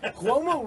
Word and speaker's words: Cuomo: Cuomo rhymes with Como.